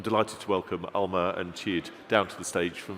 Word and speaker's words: Tjeerd: I am Tjeerd. That's how you pronounce it.